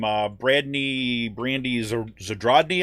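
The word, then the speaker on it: Zadrozny: uh bradney brandy's or zadrodney i think is how you say her name um yeah zadrazni so drasney she's like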